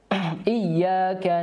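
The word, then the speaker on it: إِيَّاكَ: ayat selanjutnya ayat keelim iyaka na'budu wa iaka n yang perlu kita perhatikan adalah kata iyaka harus betul-betul diperhatikan tasdidnya Jangan sampai hilang tasdidnya karena ketika hilang tasdidnya ini menjadi iyaka yang artinya cahaya matahari maka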